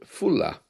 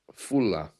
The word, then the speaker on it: Foula: There's a tiny little island in the north of the UK called Fulla. Fulla. It's pronounced Faula or Fulla, Foula, and they celebrate Christmas 12 days later than anybody else.